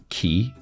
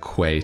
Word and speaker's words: quay: I just had to look up this word key in the dictionary because I don't know if I would ever have thought to pronounce it key. It just looks like quay to me.